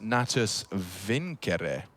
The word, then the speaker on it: Natus Vincere: navi's full name and want to say it correctly as in the Latin uh it's actually pronounced natus Viner okay so there you